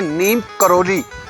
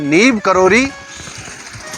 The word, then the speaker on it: नीब करोरी: जो नाम है नीम अधिकतर लोगों ने बोलते हैं नीम करोरी यह गलत उच्चारण करते हैं सभी लोग इनका नाम है नीव करोरी बाबा तो इनका नाम कैसे